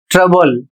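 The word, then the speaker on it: trouble: और इसका उच्चारण होता है ट्रबल।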